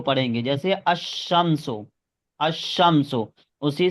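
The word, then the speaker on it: الشمس: देख सकते हैं कि लाम नहीं पढ़ा जाएगा। अशमसो। अल शमसो इसको नहीं कहेंगे, अल शमसो नहीं कहेंगे। यहाँ पर लाम को नहीं पढ़ा जाएगा। अगर हम लाम को पढ़ते हैं तो ये गलत प्रोनाउंसिएशन कहलाएगा।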